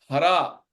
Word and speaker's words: हरे: लता को संस्कृत में बहुत जो है एक प्रोनाउंसिएशन में लते बोलते हैं। इसी तरीके से हरा को हरे, शक्ति को हरे बोलते हैं।